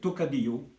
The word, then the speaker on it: Tocadillo: dire grand-chose finalement euh mais phonétiquement euh c'est tocadio là vous avez écrit tokadio c'est la même